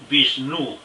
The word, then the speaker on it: Vishnu: vudú se pronuncia vikingo la pronunciación usual españolizada es vishnu sin aire etimología podría